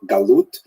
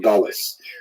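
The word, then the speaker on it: גלות: connotation but the word Exile in Hebrew galut or in a ashkenazic pronunciation Galis uh that Jews were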